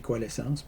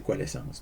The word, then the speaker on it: coalescence: en anglais, ça s'écrit coalescence, mais en français, c'est coalescence. Donc, c'est le même mot.